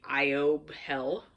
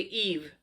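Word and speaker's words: Aoibhe: not evil evil but if I were to pronounce the Gaelic incorrectly and read how it sounds it would be IO hell but it's basically Eve um a-o-i-b-h-e is Eve in Gaelic and then it has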